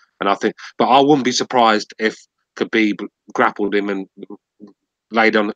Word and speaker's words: Khabib: I think Khabib will win. And he said yesterday he want everybody to get his name right. It's Khabib. The K is silent. It's Khabib.